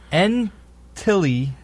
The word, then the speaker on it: Ntilikina: Okay, I got the pronunciation. His name is Frank Ntilikina.